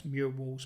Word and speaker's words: Murwalls: So it's a combination of the word mural and walls. So it's Murwalls, but people find it hard to say it, including myself.